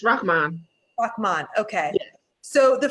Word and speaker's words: Rahmaan: Yes, it's Rahmaan.